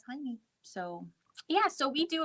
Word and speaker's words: Heine: Club is a Laura Heine. I know. I always I didn't know how to pronounce it, so I purposefully went and I watched and she pronounces it Heine in a Yes.